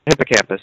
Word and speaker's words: hippocampus: you mentioned the hippocampus did I say it right hippocampus yeah hippocampus so the O is kind of like not emphasized so the hippocampus which